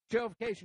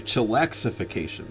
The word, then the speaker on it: Chillaxification: Chillification number 6, your winner, followed by 7, 8, and 2. Hold all tickets. It's actually Chillaxification, so the track announcer got the name wrong, but that's okay.